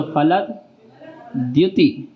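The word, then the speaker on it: फलद्द्युति: फलद जो द्या है, दा और या से मिलके बना है द्या, इसलिए जो एक दा का उच्चारण ला के बाद थोड़ा साउंड में लाएंगे। फलद बोलो, फलद द्युति, फलद द्युति।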